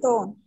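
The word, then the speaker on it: tante: Taunt. Till T you have to pronounce. La taunt. An will be pronounced as on. So it is la taunt.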